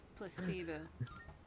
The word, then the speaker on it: placebo: The stress is on the middle syllable. Fuck you, Tanaka. Placebo.